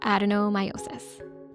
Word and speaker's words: adenomyosis: Kind of sounds like endometriosis, and actually it hangs out quite often with endo, but it is different from endo. We're talking about adenomyosis.